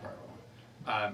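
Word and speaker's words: bodhrán: It's spelt Wadran, but Okay. it's pronounced Bowron.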